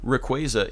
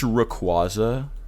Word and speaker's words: Rayquaza: Like, oh, Rayquaza, it's Rayquaza. It's not. It doesn't matter. Either one is fine.